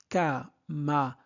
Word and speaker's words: camarades: Et leur camarade. S ne se prononce pas. S, c'est la marque du pluriel.